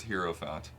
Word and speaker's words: hierophant: said hero once so I'm actually says hero fat so it is hero okay then Persona said